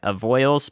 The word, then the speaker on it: Avoyelles: surprise there and uh somebody put the pronunciation for that in chat I have a yell of avoyelles goodness gracious of all evils evil yells everyone yells of oils of oils there we go all right avoyles Parish